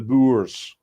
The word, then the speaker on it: Boers: The plight of the Boore farmers has been going on for years." Hang on, let me try to say it like Jack. The Boers.